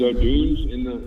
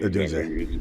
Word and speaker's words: Odunze: Yeah, is O'Dunes in or Odunze? I don't know how you say his name. Odunze.